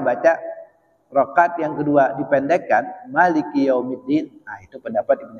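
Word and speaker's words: مَلِك: Ya, ketika almalik kita bacanya jangan panjang. Ya Malik itu salah. Tapi yang benar ya Malik. Ya Malik ya. Mimnya enggak pan enggak panjang.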